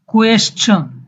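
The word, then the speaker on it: question: Picture, কোয়েশ্চন, কোশ্চেন আমরা বলি, স হবে না এখানে, ছ, কোয়েশ্চন।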